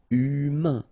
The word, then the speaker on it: humain: Remember, H doesn't exist, so U, then A-I-N together, un. Humain.